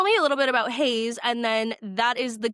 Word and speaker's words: Hazze: I want to talk about has sports though. Am I pronouncing that correctly? Has it's actually Hayes.